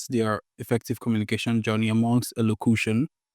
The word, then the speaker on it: elocution: Elocution. Elocution. So there's nothing you're doing with the... oh, did I just correct? Sorry, 20% sure. I mean, I was expecting this to be Elocution. It's cution. elocution.